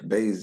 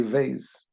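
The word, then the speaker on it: בית: Beis we know, like Beis, you can say Beis and you can say Veis.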